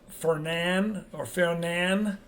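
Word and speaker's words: Fernand: We're expecting this to become Fernan. I don't know how you're going to pronounce it, but a silent D.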